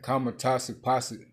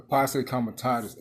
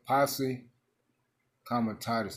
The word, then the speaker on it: Posse Comitatus: can cancel out this how you say it, man? Kamatazi Posse. Let me type it in my other phone. I'm going to say it right. Kamatazi Posse Act. Some shit like that. Kamatazi something. I'll tell you what. The Posse Comitatus Act. That's what it is.